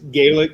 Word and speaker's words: Gaelic: Linda wants to know if I pronounce this right, is Gaelic still spoken? You pronounced it correctly, yes.